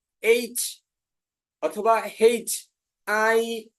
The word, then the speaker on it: H: এটা হচ্ছে এইচ, শুদ্ধ উচ্চারণ করেছেন এইচ। আরেকটা আছে, এটা হচ্ছে হেইচ। হেইচ, আমরা বলতে পারি হেইচ, হ একার, হেইচ, এইচ এবং H হেইচ, হেইচ।